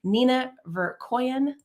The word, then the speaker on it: Nina Verkoeyen: And I want to say her name one more time, Nina Verkoeyen. Hope I pronounced that correctly again.